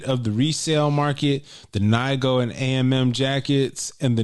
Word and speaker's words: Nigo: Spiel yeah um the Neo jacket Nigo mad people were asking me why I said his name wrong I don't know I've always said Neo um the Neo jacket